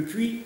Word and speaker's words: Puy: Le puits, le mot s'écrit P-U-Y, n'est-ce pas?